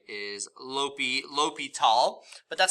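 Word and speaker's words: L'Hôpital: And in English, it looks like La Hospital is how it's spelt, but I believe the French way is, I think I can get this right, is L'Hopital, but that's how you pronounce it, L'Hopital.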